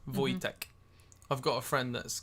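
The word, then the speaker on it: Vojtěch: Voy Voytech Marique. Voytech. March. Voytech. No, cuz it'll be like European. So the the J will be like soft. Voytech.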